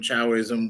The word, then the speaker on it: Taoism: A lot of people spell it Taoism. I mean, it's a Chinese word, Taoism, Chaoism, which just means the way.